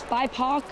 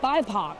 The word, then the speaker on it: BIPOC: We're going to the biopic now. Here we go. Biopic. BIPOC. I always say it wrong. BIPOC. That's how you're supposed to say that.